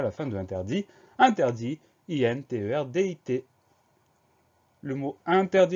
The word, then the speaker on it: interdit: On remarquera qu'il y a une lettre muette, le T muet à la fin de interdit.